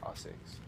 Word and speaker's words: ASICS: And I'm sitting outside of the ASICS World Headquarters, but in Japan it's pronounced ASICS.